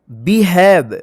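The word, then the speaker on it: behave: ई इसको क्या पढ़ेंगे बिहेव नहीं बिहेब नहीं पढ़ा जाएगा इसको पढ़ा जाएगा बिहेव बी ई से क्या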